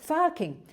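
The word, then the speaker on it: FARCing: It's spelled F-A-R-C. But because I'm Australian, I can't say the R like Americans say the R. So farking, this is a process by which you change.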